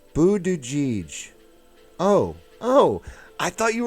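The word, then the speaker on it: Buttigieg: but no one's talking what are you saying pronounced Buddha jij oh oh I thought you were like speaking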